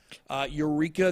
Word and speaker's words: Ureeqa: Eureka, that's how you spell it, Ureeqa.